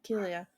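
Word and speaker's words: Killua: you threw me off cuz I've always pronounced it kiloa and then you said Kia and I was like what the K yeah kilia because what's he gonna do he's gonna kill you yeah kill you um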